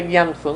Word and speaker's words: Gyatso: Se escribe Gyatso. Dalai Lama. Sí, pero se pronuncia Gyamso, ¿no? Este Shoshak se refiere a los ojos.